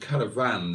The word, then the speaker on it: caravan: And I pronounced caravan then in a very northern way, with the emphasis on the van rather than the cara.